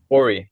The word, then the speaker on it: Ori: Can I ask as well, Uh, is with pronunciation, is it Ori? Ori, yeah, Ori.